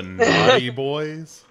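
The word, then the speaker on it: Knotty Boys: The Naughty Boys. Yeah, like, that's but it's spelled like great. Yeah, like KNOT.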